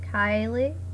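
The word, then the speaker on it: Kaili: K-A-I-L-I, Kylie. That's how I originally pronounced it, I thought.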